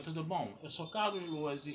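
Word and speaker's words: Lohse: Eu sou Carlos Luozi e esta é a Batata Espacial, o seu site de cultura nerd e de cultura em geral na internet. Meu canal do YouTube é o Carlos Luozi.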